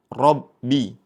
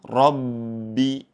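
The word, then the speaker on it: رَبِّ: Kemudian yang kedua yang perlu kita perhatikan yaitu pada kata rabbi ba bertasydid. mempunyai sifat syiddah atau tertahan ya. Jangan sampai kita saat membacanya ada aliran. Contohnya seperti ini, Rabbi. Namun yang betul dengan cara ditahan atau tertahan.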